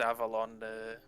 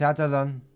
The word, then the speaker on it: Adalon: Don't forget it's Adalon. You say it wrong, she'll be mad.